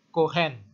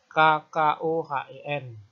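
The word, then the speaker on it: כֹּהֵן: Jadi bacanya kohen. Tidak mungkin KKOHEN.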